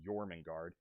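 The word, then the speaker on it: Jörmungandr: that giant Serpent and I'm familiar enough to know how to pronounce that Serpent's name yorman guard knowing that he's going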